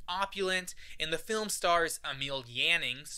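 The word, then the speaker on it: Emil Jannings: and the film stars Emil yanning finally pronouncing that one right the winner of the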